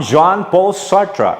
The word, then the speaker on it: Jean-Paul Sartre: name is jean-paul sartre i repeat jean jean john paul sartre that's how you pronounce it he's french indian jean